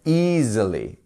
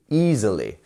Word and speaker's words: easily: e okay and then we have our two dots here which means that we have easily easily so that is our easily we have three syllables the first one here is our stressed one e easily yes like even one